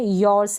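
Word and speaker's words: yours: इसका उच्चारण ध्यान रखें, योर्स है, आर के बाद एस लगा हुआ है।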